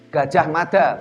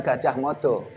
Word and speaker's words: Gajah Mada: Gajah Mada bukan Gajah Modo.